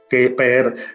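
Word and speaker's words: Kheper: Keper, que es realmente es Heper, si lo pronunciase un Ah, egipcio sí.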